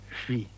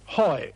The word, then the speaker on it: Huy: And then he stuck H-U-Y, and just couldn't pronounce Hui. So after a moment's hesitation, he said triumphantly, "Hoi!